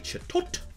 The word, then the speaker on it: Chatot: We have a Chatot.